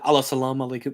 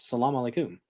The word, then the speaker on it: Salam alaykum: even say it right he said Alam alayum no it's Salam alaykum I've talked to a